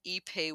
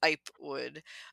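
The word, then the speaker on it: ipe: you talk about the epay wood so for those uh it's I PE it's it's a weird pronunciation for the spelling you might might read it as iWood uh so epay wood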